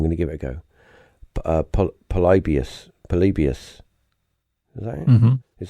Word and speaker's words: Polybius: Polybius. Is that it? Mm-hmm. Is that right? Yeah, Polybius. Polybius.